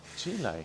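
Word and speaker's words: gilet: Gil is how do you say it? Gilelay. Gilelay. how it sounds. Don't you dare say Don't you dare say Gillot.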